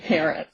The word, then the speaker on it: Parrott: But I pronounce his name Parrott.